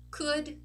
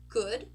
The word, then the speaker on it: could: it's an uh so could should would notice we are not pronouncing the letter O and we are not pronouncing the letter L okay next one we